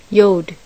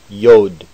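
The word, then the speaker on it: יוד: tet simply as to yod yod yod is pronounced like the y in yard with the doge kaff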